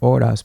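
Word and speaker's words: horas: which is h-o-r-a-s but you don't pronounce the h in Spanish so it'd just be odas but if you look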